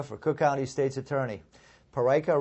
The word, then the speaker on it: Peraica: Parika rhymes with America.